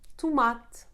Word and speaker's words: tomate: E sounding like U, the muted sound of E. It happens at the end of the words when not in the tonic syllable, like parede, tomate, or the preposition de.